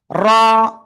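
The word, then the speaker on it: ر: জিব্বার আগার পিঠ তার বরাবর উপরে তালুর সাথে লাগিয়ে মোটা আওয়াজে উচ্চারণ করব। র।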